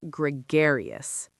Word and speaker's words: gregarious: It sounds a bit like hilarious, but it means something different.